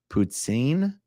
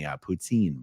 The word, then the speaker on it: poutine: How is the poutine properly pronounced? Poutine.